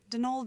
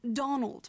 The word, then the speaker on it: Donal: That was the caretaker, Donald Delaney. Not Donald, mind you. There's no D at the end, so it's pronounced Donal.